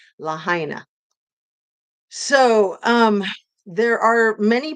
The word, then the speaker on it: Lahaina: to if the people of lahaini were incinerated um and I said it wrong Lahaina so um there are